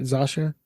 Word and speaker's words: Zosia: Zosia?